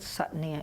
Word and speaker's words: Sat: There's a sense of self that's really deep inside of ourselves, and that's what Sat means. It's S-A-T, but it's pronounced Sat.